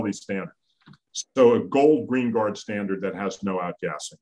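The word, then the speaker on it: Greenguard: So let me just, I think I might have pronounced that wrong, believe it or not. Green Guard. Gold Green Guard. I got that, yeah. You got it right. So it's Green Guard.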